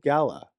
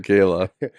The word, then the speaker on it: gala: our New Year's Eve Gala or Gayla whichever way you want to pronounce it nobody pronounces it Gayla I heard today as